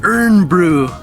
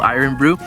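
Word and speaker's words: Irn-Bru: called the same thing, but it's spelled in Scotland I-R-N, so we called it Iron Brew. We totally messed up. It's supposed to be called Iron Brew.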